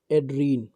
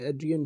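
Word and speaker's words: Adrienne: से याद हो जाएगा एड्रीन, ठीक है, एड्रियन, एड्रियन है वैसे इसकी उच्चारण इसका एड्रियन होता है, एड्रियन, एड्रियन रिच,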